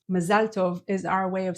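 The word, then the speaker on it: מזל טוב: oer next is ma that you probably say mazeltov mazalov is our way of saying congratulations and also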